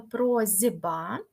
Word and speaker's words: просьба: вимовила якось дивно правда не просьба а просьба тобто б впливає на с так що с стає з тому маємо з вами прозба а тут є просто